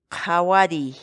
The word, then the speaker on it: qhawariy: de videos en la que te enseñamos a pronunciar algunas palabras en quechua. Así que nuestra palabra del día por hoy es Jawari, jawari, jawari, la palabra quechua.